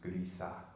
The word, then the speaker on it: Griese: It's a German name, so it should be pronounced Griese. But anyway, so Griese rhymes with Lisa.